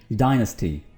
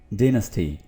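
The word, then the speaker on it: dynasty: अच्छा जी, इस वर्ड की अमेरिकन प्रोनाउंसिएशन होगी डायनेस्टी, डायनेस्टी, डायनेस्टी। जबकि ब्रिटिश क्या होगी? डिनेस्टी, डिनेस्टी, डिनेस्टी।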